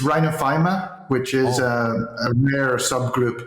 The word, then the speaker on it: rhinophyma: um what is uh I'm sure I haven't pronounced that correctly Rhino rhinophenophomore what is it but it's rhinophyma which is a rare